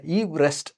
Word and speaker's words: Everest: அதே மாதிரி இவரை எவரெஸ்ட்னு சொன்னாலே பிடிக்காது. இவர் தன்னுடைய பேரை ஈவ்ரெஸ்ட் அப்படின்னு தான் சொல்லுவாராம்.